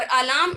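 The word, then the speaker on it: alarm: और अलार्म यहाँ पे आर साइलेंट हो जाता है।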